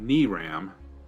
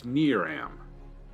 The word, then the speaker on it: Neram: in here and foreign as in the English word near followed by the English word am okay it's it's not knee Ram it's neram okay excellent I see